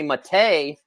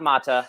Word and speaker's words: Matta: And Danny Matta, not Matta. Don't say it wrong.